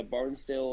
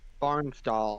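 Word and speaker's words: Barnsdall: so much worse yeah barnesdale Oklahoma is right in the path of us Barn doall I think it might be excuse me I I said it wrong initially that's all I thought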